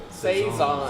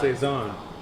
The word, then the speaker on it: Saison: And so, how do you say this? Saison? Saison. Saison. So, It's French.